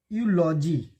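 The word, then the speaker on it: eulogy: अब देखिए यूलॉजी जो वर्ड है यह आया है, भले ई है लेकिन यह आया है तो इसमें ए लगेगा।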